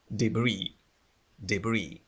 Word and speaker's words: debris: But 5 people had been injured, جرحوا, had been injured بسبب الحطام المتساقط by falling debris هو الحطام debris لاحظوا بأننا لا ننطق S في آخر الكلمة debris from drowned drones